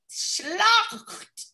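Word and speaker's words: Slochd: i am spelling i am offended it's luck schlock it's s-l-o-c-h-d s-l-o-c-h-d hence oh yeah i don't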